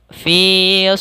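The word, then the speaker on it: في: dengan kasrah Mak maka hati-hati dalam pelafalan Fi jangan sampai dibaca dengan harus ada naas yang kita keluarkan karena Salah satu sifat huruf Fa adanya angin yang kita keluarkan mengalir maka dinamakan dengan HAM yaitu mengalirnya naas kita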